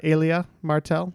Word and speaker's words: Elia Martell: so uh yes uh it's Alia Martell so I think we have to award points uh just to Kelsey on that one the pronunciation is said several times in the scene between the mountain and the Viper uh as he exclaims